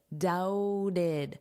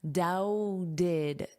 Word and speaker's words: doubted: I'm sorry I doubted, doubted. So, notice this B is not pronounced, and then this T is pronounced as a soft D, doubted, doubted, doubted.